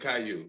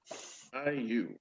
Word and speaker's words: Caillou: They did that with Lil Bill and made Caillou. You know what I'm saying? Yep, exactly. Caillou. I gotta look that up. Is it spelled like Ryu but with a K? No, it's French.